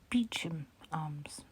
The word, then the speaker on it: Beauchamp Arms: It looks like it says Beauchamp Arms, but I think it's actually pronounced Beacham Arms.